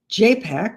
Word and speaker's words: JPAC: And in California, we have JPAC, which rhymes with Apac.